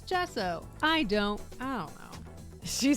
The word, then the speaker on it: gesso: Gesso. Thank you. I'm like, I'm pretty sure it's gesso.